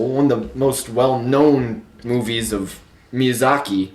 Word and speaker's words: Miyazaki: it's pronounced Miyazaki.